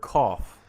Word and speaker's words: cough: them into two groups sometimes when the letters g sound just like in the word cough laugh enough or enough direction now we don't